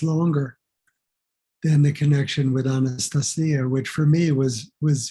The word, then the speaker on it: Anastasia: you say in Russian in Russian how you pronounce it would be like um and the emphasis is on the C so like Anastasia like that's the that's how in Russian you would pronounce it um can I just say there's an actual footnote in the book volume one where uh the translator uh tells you how to pronounce it and it's just like that it rhymes with Maria it's Anastasia and uh